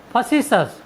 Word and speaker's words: facetious: टी का नियम number 2 है, यदि किसी वर्ड में टी के बाद IOUS आए तो हम टी का उच्चारण सस करते हैं।